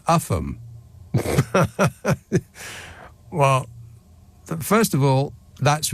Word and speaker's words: Ulgham: That is Cambois and Ulgham. And they're pronounced Camis and Upham.